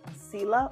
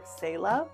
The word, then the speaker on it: Sela: The next one is a pronunciation issue for me because this name has two very prominent pronunciations. The name is Sela or Sela.